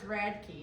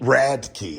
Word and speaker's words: Radke: pronounce that last name it's Radke rad key okay 370.